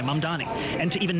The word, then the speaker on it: Mamdani: But to see a candidate for this same position be either unable or unwilling to say my name correctly, it's not that difficult. It's Mamdani, Mamdani, and to even name a single mosque that he would have visited over 10 years in leadership.